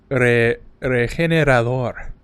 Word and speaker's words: Regenerador: You have to say it correctly, okay? I call it Regenerador.